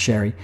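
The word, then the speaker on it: Xerri: sounds that way um it's x e r i even though it's pronounced Sherry uh so yeah he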